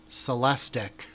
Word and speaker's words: Celestiq: a Cadillac dealer and find out the pronunciation is celestic did you did you